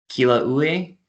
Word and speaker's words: Kilauea: It's also home to the world's most active volcano, Kilauea, I believe it's how it's pronounced.